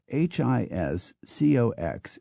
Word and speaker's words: Hiscox: Hiscox is Hisco.